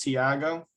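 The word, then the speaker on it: Thiago: but it's just pronounced tiago oh okay so the h is silent i don't know why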